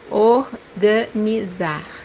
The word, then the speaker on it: organizar: First one we pronounce as Z. The example that we have here is verb to organize, which means in Portuguese. organizar, organizar, The second pronunciation for